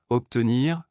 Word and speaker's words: obtenir: En français, la lettre B peut sonner comme P lorsqu'elle est suivie des lettres S ou T. Observation, l'observation des étoiles est une activité fascinante. Obtenir, il est important de bien travailler pour obtenir de bons résultats.